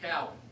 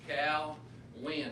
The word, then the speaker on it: Keown: And it is pronounced Keown. If you're going to talk about me, you need to learn how to pronounce my name. We just tell them this, it's Cal win, and the focus is on the win, because in November we're